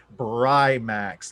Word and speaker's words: Brimax: So listeners, it's Brimax, like Brian, not Brie as in Brianna.